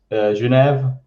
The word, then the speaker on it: Genève: So in English, it's Geneva. French, it's Genève. And we in German, because I'm in the German-speaking part in near Zurich. Yeah. And we just say Genf. So it's different ways of pronunciation.